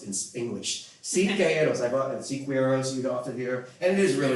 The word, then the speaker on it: Siqueiros: take this journey to Italy with his friend Siqueiros, which is the guy on the right there.